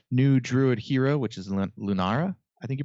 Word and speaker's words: Lunara: New Druid Hero, which is Lunara, I think you pronounce it, where you win 10 games in Standard.